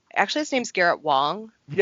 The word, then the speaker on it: Wang: Um yeah, he's talking about it and it's actually his name's Garrett Wong. Yes, that is correct. Oh, sorry. Uh, anyway, spelled Wang, pronounced Wong. Correct.